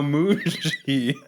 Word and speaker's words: Muji: You are now Muji. What? What was that? Okay. Moonshine? Muji. Muji, like bougie? Yeah, but with an M.